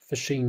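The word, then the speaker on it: phishing: you're getting fished it's you know pronounced p-h-i-s fishing is a duplicate website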